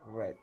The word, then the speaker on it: read: La pronunciación es diferente. Oh, man. Es Todo read, sentido. read, read. Red. ¿De acuerdo? Ay, carajo, Dios. Espérenme un segundo que no quiere bajar. Ya, ahora sí. Entonces es read, y fíjense que no cambia en la escritura. Pero si ustedes lo pronuncian mal, no se entiende.